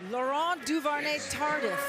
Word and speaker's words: Laurent Duvernay-Tardif: Love the way you pronounce that name. Michelle, give it to me one more time. Laurent Duvernay-Tardif.